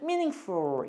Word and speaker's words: meaningful: 왜 그러냐면 혀를 목구멍으로 갖고 가다 보니까 저절로 펄 그러지 못하고 풀 이렇게 돼요. 마치 풀 이렇게 하는 것처럼 펄과 풀 중간 발음이 나와요. 그래서 meaningful 이렇게 돼.